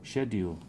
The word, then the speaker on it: schedule: In English, you have like a Y. Schedule.